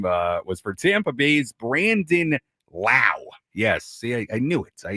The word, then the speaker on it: Lau: One was Lau, one was Lowe. Brandon rhymes with now.